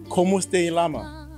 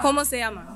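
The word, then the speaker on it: Cómo se llama: This painting is called Como Este Llama. That is Spanish for what is your name? We all know. He pronounced it wrong. Como se llama.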